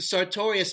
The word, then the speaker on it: sartorius: was going to school, sartorius. You remember Duran Duran with the song Notorious? We used to say it like that with the sartorius muscle and grab the muscle and go, sartorius.